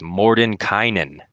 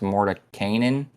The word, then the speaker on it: Mordenkainen: First of all, I think this card is pronounced Mordenkainen because it's a canine dog.